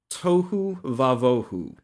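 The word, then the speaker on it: תֹהוּ וָבֹהוּ: Without form and void is the Hebrew phrase tohu vavohu. It rhymes. Where it rhymes? Yeah, it rhymes. It's kind of like an alliterative rhyme. Okay, the earth was tohu vavohu.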